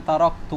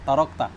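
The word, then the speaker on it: تَرَكْتُ: Atau la'alli a'malu salihan fima taraktu kalla. Tapi dia bacanya apa? Tarakta.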